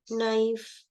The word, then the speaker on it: knife: many of times so K is mostly silent with letter n can you give me examples where k n no yes me knowledge knife all these words not